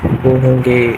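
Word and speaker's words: は: हो रहा है, इसलिए इस हिरागाने में वाह को वाह ही लिखा है, और इस पार्टिकल में हाँ को वाह प्रोनाउंस किया है।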